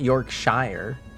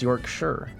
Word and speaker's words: Yorkshire: Yeah, it's not Yorkshshire. It's Yorkshire.